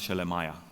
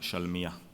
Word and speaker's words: Shelemiah: You would say Gedaliah, son of Pashhur, and Jehokal, son of Shelemiah, right? But it's really Gedaliah, son of Pashhur, Gedaliah ben Pashhur, and Yochal ben Shalmiah.